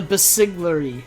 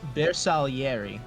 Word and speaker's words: Bersaglieri: Now let's talk about the Basigliere from Italy, the new civ. My Now, heart it's wants pronounced, me. I hate to interrupt you here, but it's pronounced Bersaglieri. The G is silent.